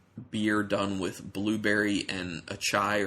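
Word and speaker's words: açaí: It was just a sour beer done with blueberry and achai, or as some people say, acai, I think is how it's said.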